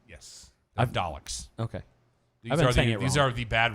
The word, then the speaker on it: Daleks: animated series called daleks is that the proper pronunciation yes i have daleks okay these are the bad robots on doctor